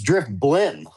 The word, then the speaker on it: Drifblim: Drifblim. Drift. Driffloon. I I think I know Drifloon. No, it's Drift Blim.